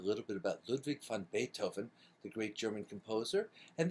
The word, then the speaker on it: Beethoven: word after that bethoven the th is a t sound Beethoven is how we say